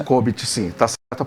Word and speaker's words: COBIT: BPM é uma metodologia também da área de TI, da área de software, mas também temos o COBIT, tá certa a pronúncia? COBIT, sim, tá certa a pronúncia.